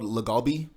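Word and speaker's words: LA galbi: Probably they call it's called lagalbi. Lagalbi? Lagalbi is spelled like L-A galbi.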